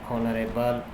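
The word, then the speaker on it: honorable: Our principal is एन ऑनरेबल मैन। यहां पे भी एच साइलेंट होने की वजह से उससे पहले ऑनरेबल से पहले एन का प्रयोग एन आर्टिकल का प्रयोग किया गया है।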